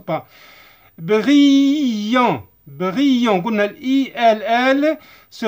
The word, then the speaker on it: brillant: Les yeux des oiseaux apparaissaient ما نقروهاش لانها لو فيرب مصرف مع il avec s ولا avec s entier c'est ne prononce pas. brillant قلنا ال ll se prononce i.